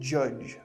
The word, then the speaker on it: judge: Words like hour and judge might seem easy, but many learners get them wrong. The piano and Edith Knox every hour would stand on her hand. In the same way that you would judge someone. No H, no D. These are silent letters.